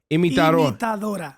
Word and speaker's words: Imitadora: You just took down Despacito with your, how do you pronounce it? Imitador. Imitadora.